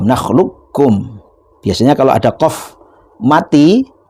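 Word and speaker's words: نَخْلُقكُّم: Jadi qofnya tidak diqqalqolahkan tapi langsung idgham nakhlukkum.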